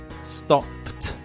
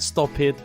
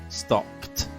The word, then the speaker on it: stopped: attacked attacked with stop similarly stopped not sto it stopped P pass ended in